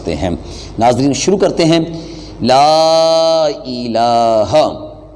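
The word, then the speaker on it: لا إله: ناظرین شروع کرتے ہیں۔ لا الہ، لام کو تھوڑا سا لمبا کریں گے، اس کے آگے الف ہے تو تھوڑی سی مقدار اس کو طوالہ دیں گے آواز کو۔ لا الہ، اور آگے جو لفظ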